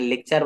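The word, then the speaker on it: lecture: থেকে আমরা শিখে যাচ্ছি শব্দের শেষে শব্দে যদি টি থাকে শব্দের ভিতরে কোথাও এবং টি এর পরে যদি একটি ইউ থাকে তো টি এর উচ্চারণ চেয়ে যায় যেমন দেখেন লেকচার বানান এল ইসি টি ইউ আর ই টি এর পরে ইউ আছে পরে একটা দেখি ফার্নিচার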